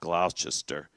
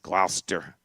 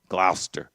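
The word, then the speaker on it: Gloucester: It is not Glchester. It's Glouester. Glouster.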